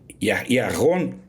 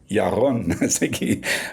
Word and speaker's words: Yaron: A minha pronúncia em hebraico está ruim. Yaron, Yaron, Y-A-R-O-N.